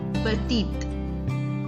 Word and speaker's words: petit: So the last consonant in a word is most of the time silent in French.